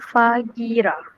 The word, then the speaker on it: Fahira: Fahira. Ada silent G ke? Fagi, I think H is silent. Silent H. Okay. Fajira, yeah? Okay, good. Silent H.